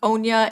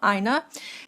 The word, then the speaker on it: Aina: And so I had pronounced it I think Anya in my previous video but they have said that it is I and then n e h is like the pronunciation so Aina.